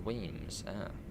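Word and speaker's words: Wemyss: yeah it's one of the requirements now it's pronounced weams it's a Weis Bay yeah George yeah yeah this is high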